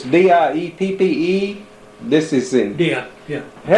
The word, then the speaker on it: Dieppe: They eventually tired of it, or so we thought, but now this is it's D-I-E-P-P-E, this is in... Yeah, yeah. How do you pronounce that?